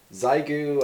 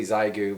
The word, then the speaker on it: Xiegu: Uh I say Zigu because um I believe in this country primarily when something starts uh with an X, we uh kind of pronounce it like it starts with a Z. Uh good example with that would be the movie uh Xanadu and uh the drug Xanax, but uh anyway, it's Americans for you, right?